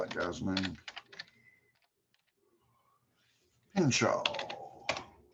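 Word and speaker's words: Pinchot: over a guy named pinshaw i don't know how to spell it guys man pincho oh because it's not spelt like it's supposed to be uh now this is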